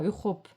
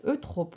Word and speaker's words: Eutrope: Invoquer Saint Eutrope, ah puis c'est pas Europe, j'ai mal prononcé, pardon, Saint Eutrope en récitant à voix haute.